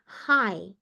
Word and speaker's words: high: fokuskan karena sering salah kita bacanya adalah yang ini Hai tinggi Hai jadi seperti kita menyapa orang aja hai gitu ya Jadi g-nya itu kita tidak baca sebagai high tidak perlu high ya Junior High senior